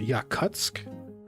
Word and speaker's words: Yakutsk: It's pronounced yakutsk cut kutsk. Holy that's loud. One lady's too loud. The next one's too quiet. Kutsk. I'm That's three sources. I'm hearing kutsk.